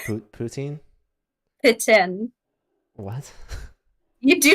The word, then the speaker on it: poutine: Pitin. What? You do not say poutine. It's pitin.